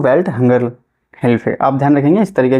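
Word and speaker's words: Welthungerhilfe: से सही से लेखन सेली नहीं लेकिन मैं उच्चारण कर रहा हूं वेल्ट हंगर हेल्फर आप ध्यान रखेंगे इस तरीके का नाम अगर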